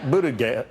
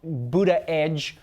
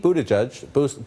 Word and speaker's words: Buttigieg: It's not Buttigieg, it's not Buttigieg, and it's definitely not Buttigieg.